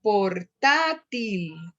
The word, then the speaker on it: portátil: por ejemplo, la palabra portátil, como computador, ¿no? Portátil. Portátil. Entonces, no termina ni en N, ni en S, ni en vocal, y cumple con la condición de tener el acento sobre la antepenúltima.